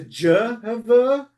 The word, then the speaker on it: Jehovah: How do you get from Y to Jehovah? You need to pronounce the Y as a J. So that's how you get Jehovah.